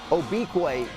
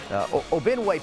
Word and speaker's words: Obiquay: I I know I pronounced the name differently throughout these highlights. I apologize for that. I Obiquay is the way to go here. Obinway popped up, but that was incorrect.